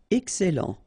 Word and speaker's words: excellent: Excellent. Okay, you've got double L here, and then it will open the sound of your E here, and it will be E.